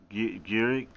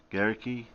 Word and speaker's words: Gericke: Thanks, Otto von Gurik. Gericke. Oh, the E's pronounced.